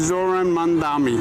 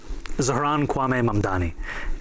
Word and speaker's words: Zohran Kwame Mamdani: This is how he does it. I'm running against a man named Zoran Mandami. He's a socialist. If you can respond to that and tell us how you say it, your full name. Zohran Kwame Mamdani.